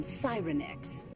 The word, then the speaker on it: Sirenix: to the curse from Cyrenex. Wait a damn minute. Oh yeah, take a shot every time they mispronounce Cyrenex. There are so many different pronunciations of it within this one movie.